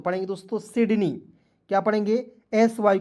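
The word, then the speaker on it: Sydney: देखिए एस वाई डी एन इ वाई तो पढ़ेंगे दोस्तों सिडनी क्या पढ़ेंगे एस वाई को पढ़ेंगे सी डी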